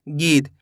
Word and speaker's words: गीत: Last वाले अक्षर का उच्चारण सही से नहीं कर पाते हैं। कैसे करते हैं? पूरा कर देते हैं, जबकि करना क्या होता है? आधा करना होता है।